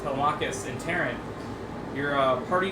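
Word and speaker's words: Telemachus: And as Odysius reconciled with Telmicus, or should I say uh you pronounce it the other way? Telmachus. Yes, Telmakus and Terran.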